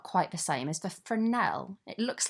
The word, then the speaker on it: fresnel: similar but not quite the same as the fernell it looks like fresnel but it's pronounced for an L so that's used for a slightly softer edge